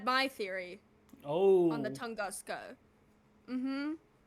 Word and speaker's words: Tunguska: Tunguska.